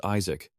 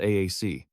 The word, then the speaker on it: Isaac: He replied in a bored tone, reminding them his name was Isaac, not AAC.